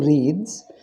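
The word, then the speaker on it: wreaths: flowers on his neck W is silent here so he wears he wears two reads of flowers on his neck give us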